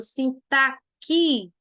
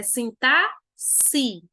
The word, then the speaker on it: sintaxe: Esse termo, gente, não é correto ser pronunciado sintaquice, feito táxice. Não, é sintaxe.